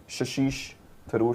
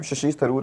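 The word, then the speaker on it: Shashi Tharoor: शशिष थरूर something. I एम so sorry अगर मैंने गलत प्रोनाउंस किया आपका नाम। कांग्रेस के हैं शशि थरूर हैं इनका नाम।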